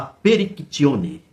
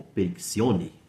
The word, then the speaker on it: Perictione: A Perictione, ou Periccione, né? Se a gente for fazer a pronúncia pelo latim.